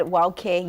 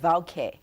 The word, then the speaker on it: wauke: For example, I said wauke, you said vauke. Yes, so in that example, so the word or the letter W can be pronounced as a W or a V, as a V sound.